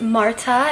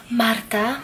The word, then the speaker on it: Marta: if you're new here my name is Marta if you can roll your R's and say Martha Martha Martha I really don't care if you've been watching